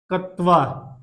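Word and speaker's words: क्त्वा: कत्वा तो नाम है, लेकिन क का साइलेंट हो जाता है, क का लोप हो जाता है और तवा प्रत्यय जुड़ जाता है।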